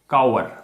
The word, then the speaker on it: cower: अब काउ से एक वर्ड और तैयार हो गया हमारा, काउअर। ये भी बच्चों वर्ब है, ध्यान रखिएगा। काउअर, काउ तक तो सेम पढ़ना, फिर अर कर देना, काउअर।